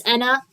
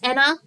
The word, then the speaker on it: Ena: But yeah, it can be pronounced as Anna. Um, in fact, the original intended pronunciation was Anna and then the ENA pronunciation came from the English-speaking audiences, but you know, it's